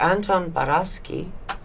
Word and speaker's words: Anton Baraschi: has been the truly brilliant and fascinating Mr Anton barasi did I pronounce that correctly absolutely perfect thank you and